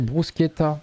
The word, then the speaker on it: bruschetta: à 2h du matin la prononciation c'est bruschetta ah bon ah ça se lit pas Bruce au magasin général l'autre